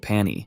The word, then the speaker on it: Pani: Jiha, true to his terrible naming habits, calls it Pani, simply because it rhymes with pony.